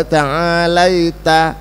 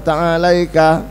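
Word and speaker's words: تعاليت: Yang banyak tabaraka, tabaraka. Yang benar tabarakta wa ta'alaita ya dzal jalali. Yang orang-orang terjang bacanya tabaraka wa ta'alaika. Enggak benar.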